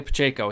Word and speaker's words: Pacheco: back for the chiefs isaiah pacheco that's how you say his name yeah i have no idea who this guy is isaiah pacheco he went to rutgers